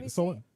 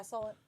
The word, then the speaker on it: Solent: Is that how you pronounce that? Solent. Yeah, Solent.